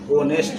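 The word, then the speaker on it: honest: है तो यहां पे ऑनेस्ट तो ऑनेस्ट का उच्चारण होता है हो तो इसको होना चाहिए हो नेक्स्ट होना चाहिए लेकिन सर ये ऑनेस्ट नहीं होता है बल्कि क्या होता है शुद्ध क्या होगा इसका ऑनेस्ट होगा क्या होगा नेक्स्ट से क्या ओ का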